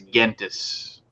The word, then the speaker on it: Gentes: A lot of people say Gentis, and then the more like Latin-y, academician way to say it is Gentis.